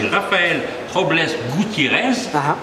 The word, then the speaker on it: Rafael Robles Gutiérrez: Mais avant, j'aimerais savoir, puisque votre véritable nom, c'est Rafael Robles Gutiérrez, bien prononcé ?